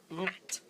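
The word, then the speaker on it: Gnat: I think it's Nat, you pronounce it? Yeah, G-N-A-T. Nat.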